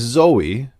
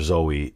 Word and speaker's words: Zoe: material we've received is Zoe maybe Zoe he calls her zoee it sounds like she pronounces her name differently like it's just zo so we'll see how